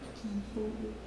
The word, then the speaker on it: Kipulu: Mine says Kapulu, I say Kipulu. Kipulu. And I'm right because my mom said I'm right.